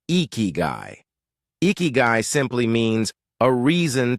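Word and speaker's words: ikigai: The Japanese call it, pronounced eeky.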